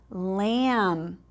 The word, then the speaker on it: lamb: And then we have lamb. Do you see which one is our ghost letter? Lamb. Oh, you guys are so smart. It's that B, because we don't say lamb.